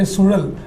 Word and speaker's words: Suzhal: people how to pronounce Sudal. So he was trying to, roll the tongue. Sudal is very, very unique, and not every language has got it, no. So I was trying to say Sudal.